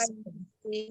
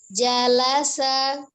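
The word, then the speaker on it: جلس: Janya tidak panjang ya. Ini bukan alif, tapi dia bersambung dengan huruf lam, la. Jadi bunyinya la, bukan alif ya. Jadi janya dibacanya pendek, tidak panjang. Jalasa. Jalasa. Gitu saja.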